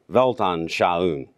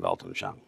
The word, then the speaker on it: Weltanschauung: We shouldn't forget the big biblical story, which is the Christian Weltanschauung. That's how I pronounce it, at least. The G being silent in Weltanschauung.